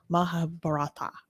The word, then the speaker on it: Mahabharata: I can never say it right. Mahabharata. There we go.